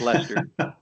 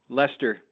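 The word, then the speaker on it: Leicester: It's Lester. Wait, say it again. Sorry. One more. One more time. Lester. Take out all those other le extra letters and it's just Lester.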